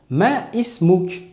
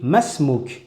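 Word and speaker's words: ما اسمك: Par contre, lorsque la début de mots n'est pas en début de phrase, à ce moment-là, elle va devenir muette. Je ne la prononcerai pas. Par exemple, quand je vais dire quel est ton nom, je vais dire masmou. Et vous voyez que j'ai pas dit ma ismuk, j'ai dit masmou parce que leif est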